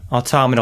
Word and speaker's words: Automata: Automata, like automaton.